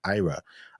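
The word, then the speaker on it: Eira: want to give a formal shout out to Ira. That's spelled E-I-R-A. You'll be proud to know that I had to Google that because I didn't want to mispronounce it. So it's pronounced Ira.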